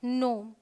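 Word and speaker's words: gnome: Alright, rule number 2 says अगर जी के बाद एन आए तो जी साइलेंट होगा।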